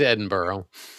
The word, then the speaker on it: Edinburgh: He corrected me last time, so it is Edinburgh.